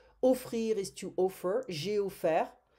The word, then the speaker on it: offert: J'ai offert. We don't pronounce the T, hein? Ouvert, découvert, offert.